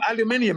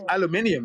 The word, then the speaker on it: aluminium: No, aluminium is correct. Aluminium is the correct pronunciation. Okay. Oh, really? Oh, okay. Yes, that's the British pronunciation.